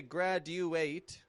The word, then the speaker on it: graduate: I'm not giving it a graduate, but graduate. Again, blending the D and U sounds together.